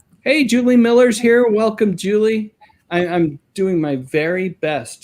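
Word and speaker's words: July: Welcome, Julie. I'm doing my very best to remember that Julie, which is spelled J-U-L-Y in this case, is pronounced Julie.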